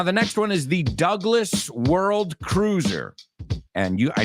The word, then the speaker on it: Douglas: It Takes now the next one is the Douglas World Cruiser and you I know in Spanish you say Douglas but in English we pronounce that word Douglas okay and the Douglas World Cruiser now this